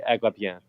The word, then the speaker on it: Agrippina: or Agrippine, Agrippine. PewDiePie. Who knows how it's pronounced? Assuming that she's a Quebecois and it's French, it's going to be Agrippine.